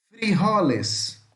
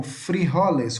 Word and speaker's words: frijoles: Então, feijões, frejol ou frijoles, como está aqui, tá legal? Beleza? Lembrando que a letra J, tá? Que é o J, tem som de R em espanhol.